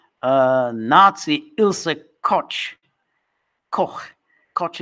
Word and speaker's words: Koch: Koch is how you say it in American.